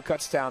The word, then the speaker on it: Kutztown: University of Pittsburgh at Kutztown or Cutstown, depending on where you're from and how you pronounce it.